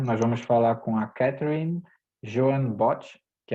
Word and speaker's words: Catherine Bott: Catherine Bott, is the correct pronunciation? Yeah, close enough. It's Catherine Bott. It's a very English name.